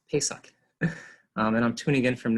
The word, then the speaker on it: Pesach: It means Passover in Hebrew, and it's pronounced Pesach. Sort of like, think of you're going to the store to pay for socks, Pesach.